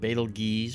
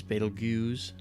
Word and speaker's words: Betelgeuse: here's one for you how do you pronounce battle juice i've heard people call it betelges betelgeuse beetlejuice okay but i have right